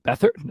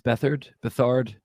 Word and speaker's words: Beathard: CJ Beathard, I think it's Bethard.